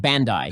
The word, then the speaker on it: Bandai: It's pronounced Bandai.